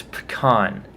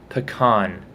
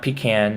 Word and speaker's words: pecan: No one ever pronounced this nut correctly. It's pecan, pecan, pecan. Not pecan, not pecan.